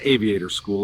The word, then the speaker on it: Aviate Our School: Aviate our school, pronounced aviator school, is now building our next wave of future mechanics and aviation leaders.